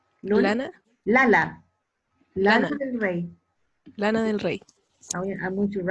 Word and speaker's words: Lana del Rey: Como la lana. Como la lana. No te creo. Es lana. Sí. Lana. Lana del Rey.